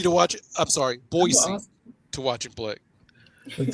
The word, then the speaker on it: Boise: It's a soft S. It's not a Z. Do you see a Z in there?